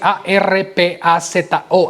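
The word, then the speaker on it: harpazo: Ahora, la palabra arrebatamiento es una palabra griega que es arpazo, y se escribe así, A-R-P-A-Z-O, arpazo.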